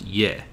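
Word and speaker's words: 의: As an exception, as a particle, meaning of, can also be pronounced ye.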